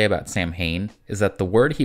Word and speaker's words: Samhain: is broken the last thing I'll say about Samhain is that the word he was named after is pronounced sauwin I know it's spelled like this but I